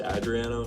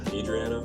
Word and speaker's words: Adriano: But my name's pronounced Adriano, not Adriano.